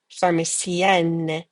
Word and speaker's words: pharmacienne: Donc, pharmacien, pharmacienne. Okay, so when things end like in C-I-E-N, say E-E-N. To make them feminine, say E-E-N, double the N, N-E. So say E-N-N-E. Say E-E-N-N-E.